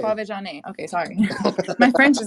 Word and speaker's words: Quvenzhané: Quvenzhané? No, No? Quvenzhané. Quvenzhané.